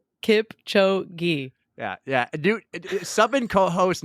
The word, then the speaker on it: Kipchoge: She interviewed Kipchoge. Oh my God. Say his name for me. Yeah. Kipchoge. How do I say it? Kipchoge.